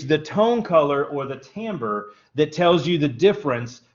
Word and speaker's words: timbre: okay so tone color or timbre t-i-m-b-r-e means timbre or is pronounced timbre and tone color or timbre is the quality